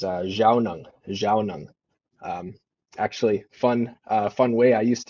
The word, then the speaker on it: Zhaawnong: And my pronunciation is Zhaawnong.